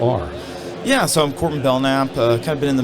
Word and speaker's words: Belknap: Yeah, so I'm Corbin Belknap, kind of been in the mechanical power transmission. The K is silent, so don't even think about saying the K. Yeah, it's French or something like that.